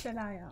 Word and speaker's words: Sherlaya: mir ganz kurz helfen, wie spricht man deinen Künstlernamen aus? Shalaya. Shalaya, also ja. Mit Betonung auf dem A.